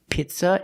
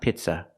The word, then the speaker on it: pizza: The first word is not pizza, it's pizza. We cannot use the short I sound like this is. We have to use the long E sound like green beans.